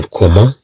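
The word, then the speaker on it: comment: عندما تكون متبوعة بأو مثلا نقول مثلا كومون يعني كيف، كومون كيف، إذن عندنا سي أو تنطق كو.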